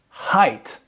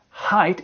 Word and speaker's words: height: Height. Okay? Height is a noun and it's spelled H-E-I-G-H-T.